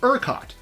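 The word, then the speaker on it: ERCOT: Council of Texas or UROT, which sounds like a knockoff of Epcot.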